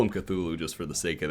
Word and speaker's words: Cthulhu: is the great sleeper cthulhu who actually i think it's pronounced kulu but uh i don't